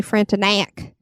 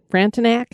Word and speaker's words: Frontenac: I think it's actually Frontenac. Frontenac? Well, I mean, the pronunciation guide was more knack than knock, but I want to say knock too. The Chateau Frontenac.